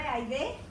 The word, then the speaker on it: Ahydé: Bueno, en Facebook estoy con mi nombre, Aide, con H intermedia, Y, acento en la E.